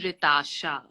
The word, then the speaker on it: Rytasha: to correct you but my name is ritasha it's not right sorry sorry i couldn't